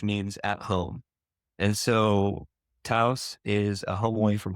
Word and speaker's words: Thuis: So it's pronounced taus.